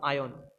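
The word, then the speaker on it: iron: अब देखो क्या है, पहला चीज तो तुमको बता दूं, आयन। आयन, ये प्रोनाउंसिएशन में आयन ही होता है, लिखा था आयरन है लेकिन प्रोनाउंसिएशन में आयन होता है, ठीक है।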